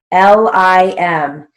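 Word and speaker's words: limb: then we have lim l-i-m notice that even though it's spelled l-i-m-b into english it's pronounced lim it's a silent b so we write it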